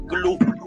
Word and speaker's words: Cthulhu: Yo lo digo Cthulhu porque creo que es la única forma de pronunciar todas las letras, aunque he leído una carta de Lovecraft que dice que en realidad la forma correcta de pronunciarlo, que es imposible porque es un idioma alienígena, sería glu, porque creo que tiene que sonar como una gota que cae.